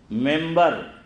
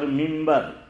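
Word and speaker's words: منبر: انہوں نے مجھے بتایا کہ 1988 میں غالباً جب وہ مسجد کے ممبر بنے، ممبر اور ممبر، ہاں تو دونوں تلفظ صحیح ہے، الگ الگ زبان کے اعتبار سے.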